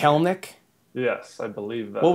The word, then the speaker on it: Kelenic: believe it's jared kellnick i think there's not a third syllable when you're pronouncing kellnik yes i believe that